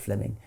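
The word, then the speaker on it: Fleeming: was simply it's written in flaming but he's pronounced fleming um fleming jenkin was simply saying manifest facts are impossible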